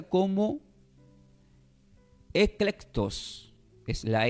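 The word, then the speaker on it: ἐκλεκτός: Y la palabra escogidos significa, este está del griego, del griego y se pronuncia como eclectos.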